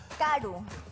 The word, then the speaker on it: karu: Karu. Taru. Karu, con K. Karu. K. Karu. Ajá, Karu. Karu. Karu, Karu. Karu y Karu. ¿Ah? Esa misma expresión se utiliza. Karu y Karu.